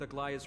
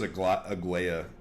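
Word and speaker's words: Aglaea: One group will stay in the abyss and meet up with Aglia's reinforcements, then search for Trianne's whereabouts. I was pronouncing it as a Agua for the longest time, which and honestly, she's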